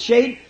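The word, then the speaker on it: שד: The really, the word, the Hebrew word Shad, S-H-A-D, some pronounce it shade.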